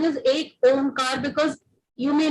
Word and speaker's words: Ek Omkar: Again, I will stick to that the pronunciation is Ek Omkar because you may not say Ek Omkar.